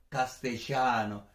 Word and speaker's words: castellano: castellano que por cierto si eres de argentina pues lo pronunciaría si tú estás ahí eres de argentina porque estás viendo este vídeo probablemente no te gustará como lo voy a pronunciar yo porque no lo sé hacer también pero sería algo parecido a castellano ya no hay más o menos doble l la ll se pronuncia pues en argentina de una manera que por cierto me parece encantadora castellano español o castellano